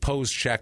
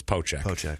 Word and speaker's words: Poeschek: that name I I it looks like pose Che but I know just from hearing countless announcers it's poche that's what they call them but yeah silent s